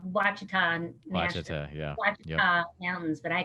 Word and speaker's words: Ouachita: mountain area it's called wachitan yeah mountains but i call them oh cheetahs because that's what the locals nice okay that's cool they pronounce the o then that's what they do but yeah and we